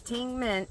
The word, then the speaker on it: Tingmengte: have to get it through Amazon again it's Ting mint is how you pronounce it I'll put it down here at